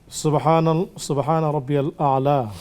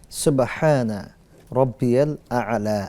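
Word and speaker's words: سبحان ربي الأعلى: শেখ, সুবহান রাব্বিয়াল আলা, আসলে এই শব্দের উচ্চারণটা কি হবে জানতে চেয়েছেন? সুবহানা রব্বিয়াল আ'লা, আল আ'লা মনে রাখতে হবে।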